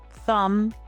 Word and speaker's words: thumb: Silent B usually appears after M or before T. Common examples include climb, thumb, lamb, and debt. In all of these words, the B makes no sound at all.